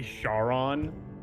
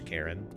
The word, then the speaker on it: Charon: actually it's actually pronounced karen yeah yeah people say charon because that's like phonetically if you look at it that's how it's spelled but i mean like